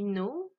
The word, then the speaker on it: know: Donc ce qui nous donne I know, you know, he, she, it knows, we know, they know. Donc là, important à savoir, le K est une lettre muette, le S ne l'est pas.